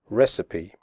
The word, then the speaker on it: recipe: the word recipe correctly the ending cipe is pronounced sippy recipe okay so let's get